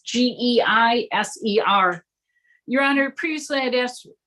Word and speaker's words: Geiser: I'm not sure how you pronounce the last name, sir. It's Geiser.